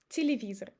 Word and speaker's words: телевизор: But when it's unstressed, we pronounce it as I. Repeat after me. Телевизор. Телевизор. As you see, I don't say телевизор. I change Е to I and O to E.